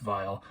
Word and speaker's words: VIA: think is just pronounced Vial. Via is pronounced Via because it's named after Olivia, some girl named Olivia, who is the one that GMK Olivia is named after.